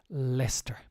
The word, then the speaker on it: Leicester: startup which has offices in Belfast and Leicester pronunciation here very difficult for most people I get away Lester doesn't make sense it's not Leicester Leicester uh